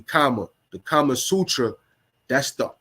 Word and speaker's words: Kama: Like mine is almost spelled like karma, but it's actually Kama.